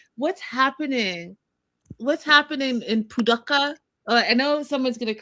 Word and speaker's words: Paducah: What's happening in Paducah? I know someone's going to correct me. I know I'm saying it wrong. Paducah.